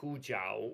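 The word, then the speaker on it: 胡椒: No, in that case, you have to pronounce it in Mandarin with the proper intonation by Hujiao, which means white pepper.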